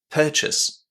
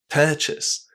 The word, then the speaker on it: purchase: This word is stressed on the first syllable. The first syllable. And because of that, those last five letters here are pronounced in a very, very short way. Listen. Purchase.